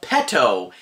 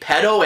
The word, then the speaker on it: Petto: by joe petto now i have to be careful how to pronounce that because it's p e t t o t t not d o p e t t o is sadly it can be quite easy to say pedo and that's completely different